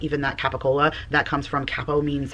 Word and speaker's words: capicola: Like even that capicola, that comes from capo means head and the cola means neck. So, it's basically just telling you what can say it capicola.